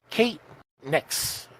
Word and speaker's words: Kate Nyx: and our guest is Kate Nix I'm pronouncing that part right yes all right just like the goddess make awesome so in